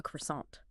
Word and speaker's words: croissant: My friend Daniel, he was in New York and he wanted a croissant. You know, flaky pastry, right? And the pronunciation often taught is well quite close to the French. Maybe like croissant.